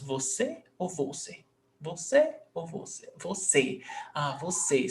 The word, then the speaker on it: você: This is pronounced você or você? Você or você? Você. Você. So the last syllable is se.